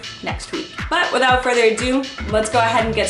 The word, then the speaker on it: Hedi: pronounce this man's name it's not Hedy there's no H it's actually silent so it's pronounced a